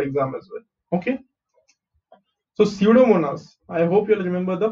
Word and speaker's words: Pseudomonas: So pseudomonas. I hope you'll remember the pronunciation. This we had seen in our animal classification, I think, chapter animal classification. Pseudomonas, यहाँ पे P silent है, okay?